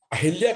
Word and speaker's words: अहल्या: जैसा जी ने कहा कि अहिल्या और अहल्या, तो विद्वानों का यह मानना है कि इसमें बर्तनी की अशुद्धि है, स्वर की पुनरावृत्ति हो रही है, इसलिए वो अहिल्या का उच्चारण आमतौर पर मिलता है।